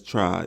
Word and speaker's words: trie: what the question says it says a triy pronounced as try or prefix tree is a tree data structure